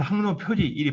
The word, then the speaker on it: 항로표지: 왜냐하면 그 우리나라의 대부분 공학적 용어가 한자에서 나왔는데 한자로는 항로표지 일이 발음되는데 실제 이제 우리가 어떤 분들은 항로표지를 안 하고 표식이라고 하는 분도 굉장히 많습니다. 왜냐하면 지식할 때 식자로 있는데 항로표지라 읽을 때만 이 식을 지라고 읽습니다.